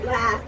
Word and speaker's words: lath: Yes, I thought it was lath and plaster. I had to think about it because it's often confused with lathe. I said lathe at first, but not today, but in another video.